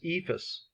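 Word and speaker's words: EIFS: insulation and finish system abbreviated e ifs and generally pronounced as Eva's consists of a layer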